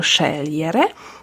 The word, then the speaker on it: scegliere: Czyli tak jak mówimy szeliere, tam mamy GL i wymawiamy mięciutko szelere, to w tych osobach L i G, G i L zamieni się miejscami i będziemy musieli powiedzieć LG, normalnie to wymówić.